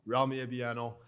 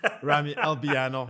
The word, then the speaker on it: Ramy Albiano: ottawa again brock frost romney a piano uh i just mispronounced my own name ramy albiano so nervous yeah i